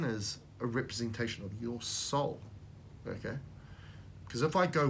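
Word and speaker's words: sol: The Latin word for sun is S-O-L, pronounced like S-O-U-L, soul.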